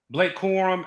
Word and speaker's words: Blake Corum: You got Blake Crum. How do you say his name? Blake Corum, and what's the running back?